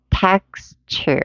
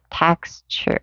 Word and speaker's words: texture: text 할 때 이 t하고 요 u하고 만나서 texture라는 취 사운드로 들린다는 거. 여기 t가 이렇게 y하고 만나서 어떤 사운드 들려요? 취 사운드로 들린다는 거. 그래서 texture 이런 식으로 texture 이렇게 발음해 볼까요?